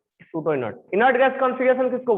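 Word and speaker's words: pseudo: सूडो का spelling कहां से स्टार्ट होता है? पी से।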